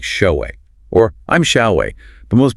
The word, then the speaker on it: Shaowei: So saying, "Hi, I'm Shaowei. It's pronounced like show-way."